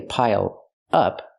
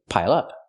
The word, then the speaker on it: pile up: verb is pile up pronounce it like one word don't say pile up say pile up that's the phrasal verb